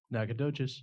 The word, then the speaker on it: Nacogdoches: Oh, NACOGDOCHES.